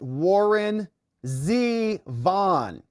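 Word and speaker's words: Warren Zevon: Sandy says, it's pronounced Warren Z. Vaughn. LOL, proof you're too young.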